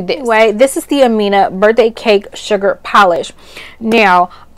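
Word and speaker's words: Amenh: It was A-M-E-N-H, and so that's how we would say it, but it is pronounced Amina.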